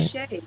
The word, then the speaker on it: Bichet: So Jenny Lee Bichet, is that the way I pronounce that? Am I doing it right? Bichet, yes.